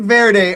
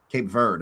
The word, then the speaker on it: Cape Verde: It's actually supposed to be pronounced like bird. So verd Cape Verde is actually how I've been told because then you say when it's cowboy.